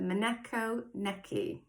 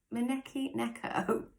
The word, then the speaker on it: maneki neko: to be really bad justice in how i pronounce this this is called the monaco necky i got that right maneki neko so there you go japanese as well so